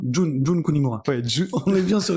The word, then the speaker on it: Jun Kunimura: Moi j'allais surtout citer Jin Kunimura. Jun Kunimura. Ouais, On est bien sur les prononciations aujourd'hui, là on est chaud.